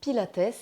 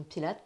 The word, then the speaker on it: Pilates: En réalité, on prononce Pilates et non Pilates puisque ça vient de Joseph Pilates qui a créé cette méthode et qui a donc donné son nom.